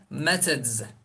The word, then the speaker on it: methods: The, method, methods, Methods, okay? Methods, methods. Farklı telaffuzları duyabilirsiniz.